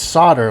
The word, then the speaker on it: solder: solder solder or solder I know it's it's solder like s o d d r but there's an L in it and I never know